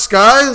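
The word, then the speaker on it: Lil Skies: It's pronounced Skies? Yes, Little Skis. you don't know how to spell sky. I thought he pronounced it skis for some reason.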